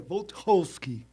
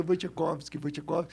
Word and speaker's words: Wojciechowski: Sim, é uma paroxítona, né? Mas em polonês é mais difícil ainda, porque em polonês é Wojciechowski. Nossa! Então é quase impronunciável. Então o pessoal no Brasil, olhando assim o sobrenome, o pessoal começou a dizer Wojciechowski. E daí pegou, não tem como falar de outro jeito aqui.